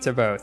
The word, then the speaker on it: Thibaut: But I know in France, the T is silent a lot of the time, like in Chevrolet. Chevrolet is a French name, even though it's an American company. That's why the T at the end is silent. So I figured it was the same with Thibaut.